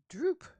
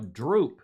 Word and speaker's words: drupe: However, the term for a one-seeded fruit, nut, is Droop. drupe. Did you know that? Yeah, I did, but I've forgotten it. A drupe, and that's how it's pronounced.